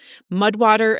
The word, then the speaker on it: Mudwtr: Mudwater is spelled Mudwtr.